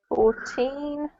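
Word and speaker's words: fourteen: to ask number 14 14 okay when you say number 14 gazania emphasize the second syllable to differentiate from 40 which is most at first okay so 14 right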